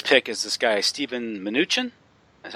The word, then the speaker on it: Mnuchin: You mentioned Goldman Sachs and his appointment, or his pick is this guy, Steven Mnuchin. That's how you pronounce it?